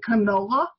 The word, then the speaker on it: canola: And canola, which was named for Canada where it comes from, and they made it rhyme with granola so that you'd think it was good for you.